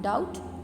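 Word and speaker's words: doubt: Climb students, English में ये rule है कि जिधर लेटर एम और बी साथ में आए एक वर्ड में तो बी जो है वो साइलेंट हो जाता है. Climb B silent, bridge B silent, is B silent, com B silent, we know, settle B silent, depth B silent and डाउट B silent.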